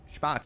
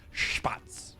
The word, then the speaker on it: Spatz: It's not Spatz, it's Spatz. Right, you gotta sound like you're expectorating as you say the name.